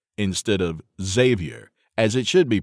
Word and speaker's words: Xavyr: I'll bet you $100 to $1 that she also pronounces it Ex-avier instead of Xavyr, as it should be pronounced.